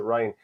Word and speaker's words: Ryan: And I don't think Ryan McBride, I know it's spelled Ryan, but I pronounced it Ryan.